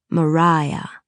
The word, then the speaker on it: Maria: That is pronounced Mariah to get it straight at the outset.